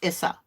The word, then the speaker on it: Isa: what's our next one Isa or Issa all right so it's pronounced Issa according to this Stillness ice